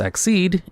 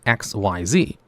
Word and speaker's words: Xyz: Just so you know these are pronounced exed and not XYZ because that's just how they set it in the anime and that's how they wanted it to sound so the A's monster